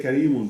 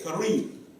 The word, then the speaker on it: كريم: so I stop, I don't say Karimun because I have That's right. stop. If I connect, now I gotta say it in a different way. I got you. Right, and that is true. But it's at the end, it would be, like you said, Kareem. Okay?